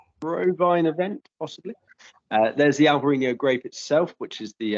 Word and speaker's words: Alvarinho: refuse to label it alvarino it's alvarinho because that's how it's pronounced and that's how it's